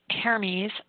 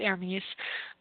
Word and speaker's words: Hermes: So he had shared characteristics with Hermes, I don't know. In the French, they pronounce it Hermes, but Hermes, Hermes, which is a Greek god.